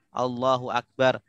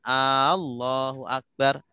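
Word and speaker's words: الله أكبر: bah yo terus bacaan Takbir Takbir juga rukun allahuakbar ya banyak yang tidak eh panah perhatian dengan bacaan Takbir ya Kalau salah baca sumama bacanya Allohuakbar itu artinya beda kalau Allohuakbar itu hamzahnya da200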